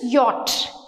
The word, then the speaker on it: yacht: Y, a yacht. YATCH, yacht అని నేర్పిస్తారు. YATCH pronunciation is yacht.